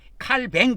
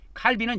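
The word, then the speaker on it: Calvin: 프랑스 사람이기 때문에 프랑스 식으로 발음하면은 칼뱅을 그랍니다. 칼뱅. 칼빈은 영어식 발음이에요.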